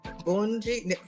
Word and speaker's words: Bunji: So we got Bunji Garland and Fayan Lyons. You guys say it like the Caribbean. You Go ahead. it. Bunji. That's Bunji.